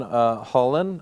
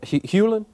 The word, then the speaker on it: Hewlin: Lauren Hewlin? Yeah, Hewlin. Yeah. Am I saying it right? Yeah. She was at IT. I said Hullen.